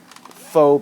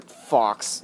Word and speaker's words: faux: CPVC barrel because the faux barrel. I prefer Fox, even though that's not pronounced correctly.